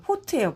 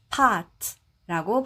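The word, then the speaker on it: pot: 이렇게 속이 깊게 파인 이런 냄비를 얘기를 하는데 우리가이 외레어를 한글로 옮길 때는 우리는이를 실제 발음하고 상관없이 대부분 그냥 5로 옮깁니다. 그래서 이거를 한글식으로 옮겨 보면 포트예요. 포트. 포트. 그래서 우리가 커피 포트라고 하잖아요. 커피 끓이는 그 커피 포트. 그래서 그때 그 포트가 요거랑 같은 단어예요. 근데 영어로는 파트라고 발음하시면 되겠습니다.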